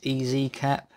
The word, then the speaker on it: EasyCap: This is one by EaseCap, or EasyCap, I suppose it's pronounced.